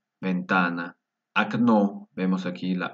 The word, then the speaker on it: окно: Окно, ventana. Окно, vemos aquí la A, se pronuncia como A porque lleva la fuerza de voz en la segunda O. Окно.